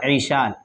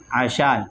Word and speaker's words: عشال: اس سوال کا جواب یہ ہے، ہمارے عرف میں ایک نام مشہور ہے بہت زیادہ، عیشال، عین کے کسرہ کے ساتھ، یعنی عین کے نیچے زیر ہو تو یہ لفظ عربی زبان میں استعمال نہیں ہوتا۔ عربی زبان میں عین پر فتح کے ساتھ استعمال ہوتا ہے عشال۔ عشال کا معنی لغت